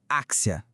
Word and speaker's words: Axia: O nome da empresa Axia com X se pronuncia Axia.